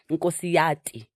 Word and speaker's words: Nkosiyati: Nkosiyati.